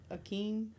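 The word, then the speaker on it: Akeem: I feel like I'm about to pronounce it wrong, but I feel like it was Prince Aeen.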